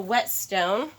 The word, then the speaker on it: whetstone: a thing called a whetstone and this is spelled wet like WH et not wet like water you don't actually use